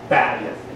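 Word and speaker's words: בַּיִת: Most Hebrew words are accented on the last syllable. Bayith is on the next to last syllable.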